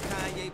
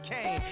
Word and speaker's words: Kanye: Now all I need is y'all to pronounce my name. It's Kanye, but some of my plastics still say Kane.